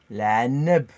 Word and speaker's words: la neb: La neb. La neb. La neb. Avec le A, comme le bêlement du mouton.